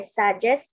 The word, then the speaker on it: suggest: So in English, when there's an unstressed syllable, we tend to say it very quickly. So it's like suggest, because we want to stress the second syllable.